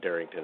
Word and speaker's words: Darrynton: Balky, is that the pronunciation? Darrynton, yeah. Darrynton.